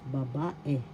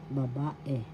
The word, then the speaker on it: babae: ang babae the girl first syllable ba second syllable ba third syllable e the second syllable has the accent so you pronounce this or because babae babae babae that is girl